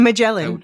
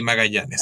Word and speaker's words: Magallanes: A Magellan. That's the way you could say it. Oh, Magellan. I'm so No, sorry. it's okay. In my country, you say Magallanes. I'm Okay. so Yeah, sorry. yeah. No, no. I mean, So, your pronunciation's more correct.